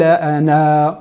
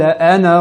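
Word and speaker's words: أنا: Ce cercle signifie que la lettre alif ne se prononce pas lors de l'enchaînement.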